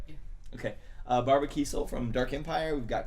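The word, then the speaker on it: Kesel: We've got Barbara Kiesel from Dark Empire. Did I say it right? Yeah. Okay. Barbara Kiesel from Dark Empire.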